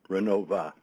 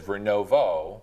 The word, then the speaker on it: Renovo: O at the end say Renova right because that's how my grandma always called it. That's how a lot of the people in Renova say it, but it is spelled Renovo, and I don't know the answer of why.